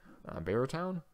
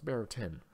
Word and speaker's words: Barrowton: Barrowtown? No, it's Barrowton. At least that's how it's spelled.